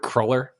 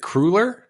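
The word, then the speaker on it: cruller: she she pronounces it crer and then crer like the word that it rhymes with is Fuller crer Fuller crer and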